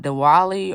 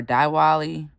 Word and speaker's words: Diwali: Next up, we have and again pronunciation apologies. Diwa Diwali or Diwali.